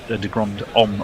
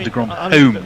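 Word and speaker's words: de Grandhomme: I think he's talking about de Grand Homme or de Grand Home, depending if you go for Ed's or my pronunciation.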